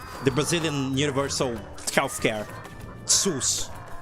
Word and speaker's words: SUS: is called but like it isn't actually pronounced sus it's pronounced sus like s o o s you know you're writing